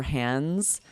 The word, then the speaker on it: hands: Or hands. Hands. It's so hard to say that D really, we just say hands. We drop the D.